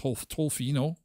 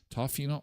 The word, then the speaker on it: Tofino: I mispronounce it. Sometimes they're called to Toflino. Tofino.